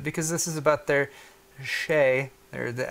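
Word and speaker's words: Xe: catch on right guys X II could easily be pronounced che alright I'm team che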